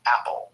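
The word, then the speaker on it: Apol: cold who called himself Apple a p o l pronounced apple apple was constantly messing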